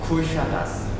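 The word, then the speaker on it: Kuşadası: 쿠샤다스 .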